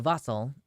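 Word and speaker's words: wassail: again I'm sure we will what's vossel so vossel it's pronounced or sorry it's spelled vasel w SS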